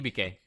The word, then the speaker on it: Hibike: Hibike.